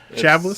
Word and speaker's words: Chablis: Chablis? It sounds like chablis? a French word. So yeah. You wouldn't pronounce the S at the end.